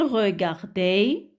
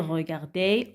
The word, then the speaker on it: regardait: Et ça devient il regardait, elle regardait, on regardait. Et le T à la fin ne se prononce pas.